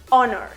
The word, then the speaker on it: honor: Esta regla tiene estas excepciones en las que la H no tiene sonido. Hour, air, honest, honor.